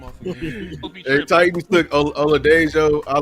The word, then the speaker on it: Oladejo: Oladejo.